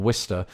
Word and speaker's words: Worcester: and I think the locals there would indeed pronounce it either Worcester or Worcester.